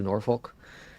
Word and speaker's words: Norfolk: If you're born and raised there, then apparently you say it a certain way, which sounds more like a swear word. If you're not, then you say it like I do, Norfolk.